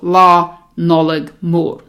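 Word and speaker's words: Nollaig Mhór: so you have a nice thick L sound wha knowledge more don't worry about the are too much at the more if you can't roll it that's fine which really only matters how you pronounce the O okay so you can sort of slide over the are so la knowledge more okay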